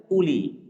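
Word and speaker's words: أولي: Di sini ada wawu. Wawunya ini murni ziyadah, tambahan yang tidak boleh dibaca dan tidak memiliki arti. Sehingga bacaannya pun uli. Jadi nanti jangan dibaca uli seperti itu. Tapi bacanya apa? Uli.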